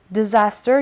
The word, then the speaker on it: disaster: eating disorders eating disaster disaster the stresses on the second syllable means a very bad event or happening something very bad a bad event or happening disaster yanni bad for example